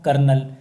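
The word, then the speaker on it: colonel: अधिक बढ़ जाता है मारा कर्नल तो कर्नल में आदमी आता कॉलोनल होता है तो कल मुझे हो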